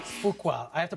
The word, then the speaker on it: Fuqua: Fuqua. I have to pronounce that correctly.